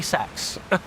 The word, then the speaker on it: sex: The Latin number for six is literally sex. Like straight up, that's just that's how you say it.